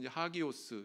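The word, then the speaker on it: ἅγιος: 성도다 왜 그럴까요 헬라어 원문에 보면 성도를 일컬어서 하기오스 이렇게 발음하는데이 단어 뜻이 뭐냐면 신에게 바쳐진 자 하나님께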